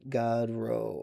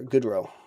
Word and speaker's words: Goodrow: It's pronounced Godrow. Oh, Godrow for that guy. Okay. Or Goodrow.